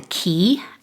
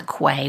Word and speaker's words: Quay: was walk down to what's called the Quay, not the Quay, which is what I call it in a minute. It's spelled Q-U-A-Y, but it was magical, and I painted down there multiple times.